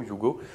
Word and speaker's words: Hugo: s'appelle le you go le prononce comme ça hugo you go qui est très intéressant